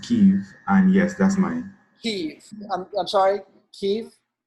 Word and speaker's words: Keith: few this is yours heavy my name is pronounced Keith and yes that's mine Keith yes I'm sorry